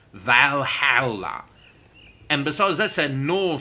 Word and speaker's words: Valhalla: in the halls of valhalla what that's not how you say it it's valhalla and besides that's a